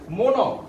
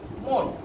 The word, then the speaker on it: মন: মন বলার সাথে সাথে আমি কিন্তু এখানে ন অ বলি না, মন এটা বলি না, আমি বলি কি এরকম বলি মন। নিচে একটা হসন্ত চিহ্ন দিয়ে আমি নয়ের অর্ধেক উচ্চারণ করি। যেহেতু হসন্ত চিহ্ন দিয়ে আমি নয়ের পরে যে একটা অ আছে এই অটা উচ্চারণ করি না, সে কারণে এই